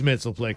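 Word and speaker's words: Mxyzptlk: Like Mitzelplick or Mixes-Pitalik. It's Mitzelplick as far as I'm concerned.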